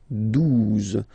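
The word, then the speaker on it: douze: 12, 12, O, U, the two together will give you the sound OO, okay? And then Z, 12, 12, alright?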